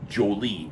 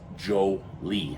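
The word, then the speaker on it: Yoli: Y-O-L-I, but pronounced Jolie, as I said a moment ago.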